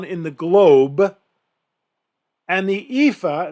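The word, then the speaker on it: EAFE: the globe and the ifa and that's how it's pronounced maybe i've never heard it efi index i've always heard ifa europe australia and the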